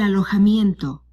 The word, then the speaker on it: alojamiento: El alojamiento. Now, here's a word that has no connection with the English language. el alojamiento, The letter J sounds like the letter H in English.